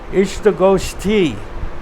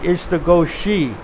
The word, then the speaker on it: Istagosthi: in the insta ghosty the meeting is called h2 ghosty not is to go Shi so prophet made the